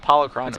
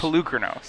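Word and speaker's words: Polukranos: Reid was telling me it's called Polychronos. It's Pelucranos. It's Pelucranos.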